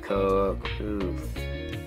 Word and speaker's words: coquito: So to start off with, we did, I forget how you say it, coquito?